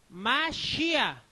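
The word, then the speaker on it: מָשִׁיחַ: La M, Ma. Este es la Che, Mash. Aquí dice Mash. Y este es la Yod-E. Yod-E, ¿qué pronuncia? Ya. ¿Está bien? Acá está el nombre de Yahweh. Mashiach.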